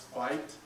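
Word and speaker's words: Veith: watch um Walter it's it's technically pronounced fight like a fight I heard one of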